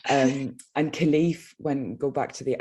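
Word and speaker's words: Kilclief: a place that's called khalif it's actually spelled k i l c l i e f the c is silent just to make things easy um and khalif when go back to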